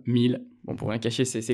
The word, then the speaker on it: Miele: professionnels de la marque miele exactement et vous remercier de l'avoir prononcer correctement puisque parfois nos consommateurs en lisant la marque prononce miel et effectivement ça se prononce à l'allemande 1000 bons pour rien cacher